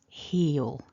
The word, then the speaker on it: he'll: everything else simple so he will becomes heal heal and really that's one syllable so don't try to make a gap or a break after that vowel just let it run through heal heal now that dark owl